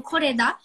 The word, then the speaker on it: Koreeda: Koreeda Ah, não conheço. Hirokazu. Falei certo? É desse modo Como que mesmo. fala esse Hirokazu nome? é Fala o pra mim. nome dele, né? E o Koreeda seria o sobrenome.